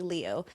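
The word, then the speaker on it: Liu: I watched a bunch of videos about how it's typically pronounced Leu, but some people will request that it's pronounced Lou.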